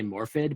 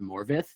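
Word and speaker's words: Morfydd: I was gonna say Morphid, but apparently it's it's a Welsh name. It's supposed it's pronounced Morvith, even though it's spelled like Morph, but anyway, Morvith Clark.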